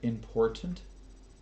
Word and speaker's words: important: many many many years if you can't pronounce the word important shut the up there are two t's in the damn word for